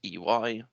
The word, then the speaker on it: Ey: so my name is ey you pronounce it eui my linkedin has the